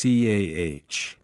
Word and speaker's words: car: In received pronunciation, RP, the R at the end of words is silent unless followed by a vowel. For example, car becomes CAH.